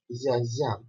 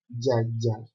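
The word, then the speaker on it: γιαγιά: It is pronounced yaya like this. Somebody would have written like this, but it's not yaya. is ya ya with the intonation of the second ya over here.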